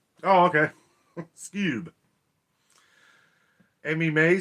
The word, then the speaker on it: Skewb: got tonette right awesome this cube is pronounced like the cartoon dog oh okay skewb amy may says hello